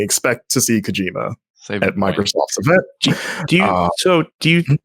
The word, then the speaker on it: Kojima: I found out on the topic of it's pronounced Kojima, and I didn't know that until I went to Tokyo Game Show, and their PR yelled at me. They're like, Kojima, and I was like, Kojima, and they're like, Kojima, and I'm like, Kojima.